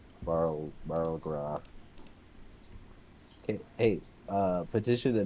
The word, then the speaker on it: Barlgura: more worth it to shoot the Beluga, the Bulgura, Barlgra. Okay, hey, petition to name these things something that people can actually pronounce. It's they're demons, you know. Barlgura. What's his name? I know. Anyways, It's a Barlgura.